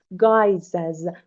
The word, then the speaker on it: guise: The singular form is G-U-I-S-E و pronunciation مثل guise G-U-Y-S و guise means appearance.